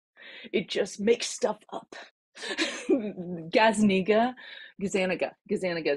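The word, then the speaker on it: Gazzaniga: Gazaniga is how you pronounce his name.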